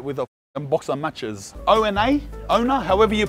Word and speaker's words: Ona: Ona, Ona, however you pronounce it in Marrickville.